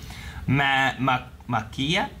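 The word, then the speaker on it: Maquia: I present to you Makia when the promised flower blooms. Mm. Pronounced Ma-ki-a.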